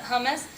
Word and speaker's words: hummus: Stacy pita chips and Sabra that's how you pronounce it hummus and then serve dinner over War bread of